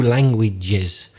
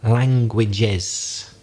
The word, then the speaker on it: languages: mistake of foreigners is the pronunciation of the plural of language one language two languages people forget to add the extra syllable so one language to languages and also one other